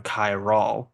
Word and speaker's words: Kyrol: But the more I played around with it, I just landed on Kai Ra. And while it said like K and it said like K R Y A L L, but it's spelled K R Y O L. So it's just it's one of those funny things like it's said one way, but it's spelled a different way.